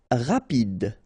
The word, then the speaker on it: rapide: Rapide. Final E not pronounced, so rapide.